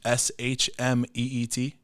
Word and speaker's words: Schmidt: So it's J_Schmidt, SHMEET.